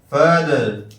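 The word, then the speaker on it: father: ابن، ابن باپ، والد۔ فادر، فادر دیکھیے یہاں آخر میں آیا ہے آر، تو اس کا تلفظ بالکل واضح آر نہیں کہیں گے، فادر نہیں کہیں گے، بلکہ اس کو کہیں گے فادر فادر۔ اخن اخن بھائی، برادر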